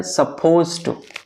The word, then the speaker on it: supposed to: वो ये है कि जब हम लोग प्रोनाउंस करते हैं उस वक्त हम लोग कैसे प्रोनाउंस करते हैं सपोज टू कहते हैं ना सपोज टू पर आप अगर स्पेलिंग में गौर किए होंगे तो वहां पे डीवी है ठीक है तो कैसे होगा सपोज्ड टू बट एट the time of speaking if you drop the letter D it's okay अगर आप डी